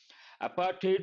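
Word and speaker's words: apartheid: careful with pronunciation here it is not du sound it is a t sound apartate we have got many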